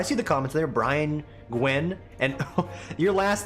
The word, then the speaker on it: Nguyen: for my race, but like the last name Gwen, the way it is spelt, the sheer number of people I've met in my life that legitimately pronounce it Nguyen, I'm just like, I